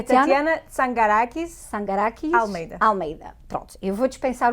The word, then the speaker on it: Tatyana Tsangarakis Almeida: É Tatiana Sangarakis Almeida. Pronto, eu vou dispensar o Sangarakis, porque é Tatiana Almeida, é mais fácil de pronunciar e dar-lhe as boas-vindas.